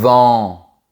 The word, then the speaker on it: vent: Le mot "vent" se prononce avec la bouche plus verticale. Tu baisses bien le menton. C’est différent du mot "vin", la boisson, que tu prononces avec un grand sourire.